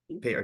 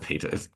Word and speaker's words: Petr: pronounce his name correctly pet Peter pet not Peter okay well Terry hry